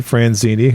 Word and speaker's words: Franzini: Franzini, who's also a co-owner and CEO. Did I pronounce that correct?